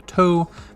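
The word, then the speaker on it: と: out ten and then we have to which this kind of looks like a toe that's been stabbed with an l which makes bizarre cringe and then now we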